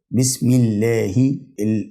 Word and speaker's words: بسم الله: الكلام اللي بعد كده بسم الله كلمه الله بسم الله الهاء لو خدنا بالنا الاخيره في كلمه الله